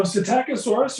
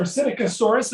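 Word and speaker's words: Psittacosaurus: bit about them sure so cetacosaurus or acidicosaurus as it's also sometimes pronounced it is actually an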